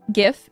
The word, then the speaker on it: GIF: who made the word gif it is pronounced GIF yes however factually that is wrong a g makes a a g sound and a j makes a j sound as to where if